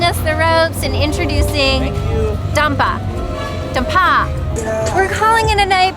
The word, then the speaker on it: Dampa: Dampa.